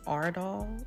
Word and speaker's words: Aurdal: putting up here this is actually called the Ard doll system I think that's how you pronounce it but um the way it works